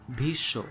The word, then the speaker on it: Bhishma: also take the example of bhishma in hindi this is pronounced as bisho also the sound is